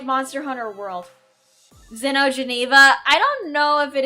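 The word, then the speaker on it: Xeno'jiiva: I'm sorry my pronunciation shite. Okay, it is Zeno Shiva.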